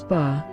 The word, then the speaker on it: 八: chinese the pronunciation of the number eight is bar and the pronunciation is very similar to the character which